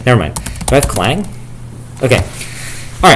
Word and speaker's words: Clang: Do I have clang? Okay. All right. So, that's how we do GCC. Okay. There are clang fans. Okay, folks. That's not pronounced cang.